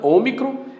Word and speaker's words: Ômicron: Os dois são O, só que esse é Ômicron, micro, pequeno, pronúncia curta, Ômicron.